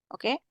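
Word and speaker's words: を: Tapi kalau untuk partikel kita bacanya O. O aja. O-nya aja kita baca O. Jadi W-nya enggak kita baca, tapi cuma baca O-nya aja.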